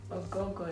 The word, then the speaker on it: Ogogo: It's spelled O-G-H-O-G-H-O. But my mom claims that the G is silent, like you don't pronounce the G. You just literally are pronouncing just O's, like oh. Like you want to vomit or something.